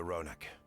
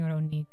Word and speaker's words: Ronic: Like us, they followed the Ronic. And like us, they were visited by a reaver. Okay, so it's Ron. I've been saying Ronique.